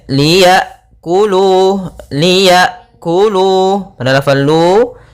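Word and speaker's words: ليأكلوا: pada bacaan di sini ada huruf hamzah sukun Hamzah sukun memiliki sifat yang mencolok yaitu sifat jaharnya dan sifat syiddah yaitu tertahannya nafas dan tertahannya suara ketika melafalkan hamzahnya sukun a i u maka Liya kemudian Liya kulu Liya kulu pada lafal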